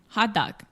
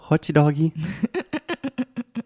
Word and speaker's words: hot dog: Não é hot doggy. Hot dog. Hot dog. So this is the A sound, as in prato, chato, hot dog. Hot dog. Ooh, let me correct myself. Hot, A. Dog, A. Mm-hmm. Like in olha só.